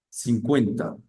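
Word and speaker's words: cinquante: con el número 50 que se pronuncia 50 bien con esa in Y con esa an la in suena abierta a y la a n es como una a nasal y suena a entonces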